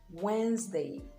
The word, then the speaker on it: Wednesday: word but it is wednesday so the d is absolutely silent it's also silent in